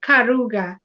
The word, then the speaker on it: Karuga: name is karuga i think the way s is pronouncing it is miss karuga yeah yes yeah okay yeah hi